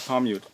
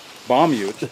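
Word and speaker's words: Paamiut: A P in Greenlandic is pronounced as if it were a B. Bamyut. Yeah. Bamyut. Yeah. Bamyut. Yeah, it's Bamyut, not Pamyut.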